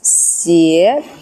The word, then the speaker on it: 叶: choose this one 叶 which actually originally reads as /xié/ pronunciation nowadays you might think /yè/ and /xié/ might be a bit different but in ancient Chinese also in Wu dialect a regional dialect they sounded quite similar so very naturally people